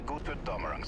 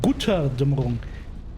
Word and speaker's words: Götterdämmerung: They're pronouncing Götterdämmerung completely false to saying Gutterdämmerung.